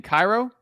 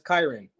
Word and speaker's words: Kyron: Cairo? Well, it's Kyron, but a lot of people get it mispronounced, so it's Cairo with a K. It's Kyron. Some people like Tyron or Kieran, but it's Kyron.